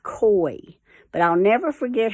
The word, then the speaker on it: koi: there and sure enough it's not pronounced qua it's pronounced koi but i'll never forget